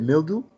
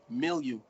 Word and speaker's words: milieu: next one is milieu you said mildew milieu milieu yes you sure you